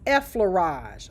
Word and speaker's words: effleurage: Okay, the first one is effleurage. Okay, that's how it's pronounced. Effleurage.